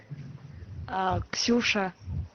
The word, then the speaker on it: Ksusha: Do you pronounce the K in your name? Is it Kasusha or just Susha? Yeah, I do pronounce the first letter.